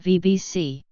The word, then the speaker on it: BhBC: written as BHBC Alba, with the acronym pronounced VBC.